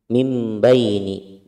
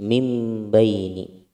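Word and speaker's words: مِنْ بَيْنِ: Di sini ada nun sukun bertemu dengan ba. Hukumnya adalah iqlab, dibalik. Iqlab itu artinya dibalik. Jadi bacanya mimbaini, mimbaini. Seperti ba dulu baru nun.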